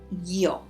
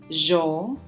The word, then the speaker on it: yo: find this one Auriga yo that is I yo depending on where people are from Spanish that is this sound the yoga will have different pronunciations so you may hear something like yo or jaw or jaw but they are all the same thing it just vary slightly depending on the region and the last one